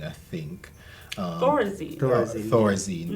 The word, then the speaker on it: Thorazine: So I was listening to a local program, and the conversation surrounded Terrazine, I think. Thorazine. Thorazine, but I think the pronunciation on the program was Terrazine.